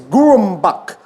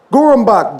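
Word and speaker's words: Gurambak: And fact number 8, the traditional name for cranback is Gurumbak. Gurumbak, G-U-R-A-M-B-A-K. Write it down quick.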